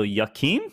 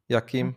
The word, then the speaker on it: Joachim: The J is pronounced like the Y in a yes. So how would you say that? Why? He's saying it's like a Y. So Joachim, is that what he's saying?